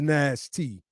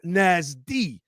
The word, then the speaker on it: NASD: of american slavery descendants nasd pronounced nasty right notice he puts s-t-i it's not pronounced nasty it's pronounced nasdi these are the little